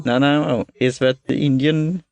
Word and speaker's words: Nanaimo: How do you pronounce that? Nanaimo. Nanaimo.